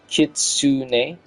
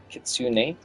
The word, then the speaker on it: Kitsune: Pronounced Kitsune. Kitsune.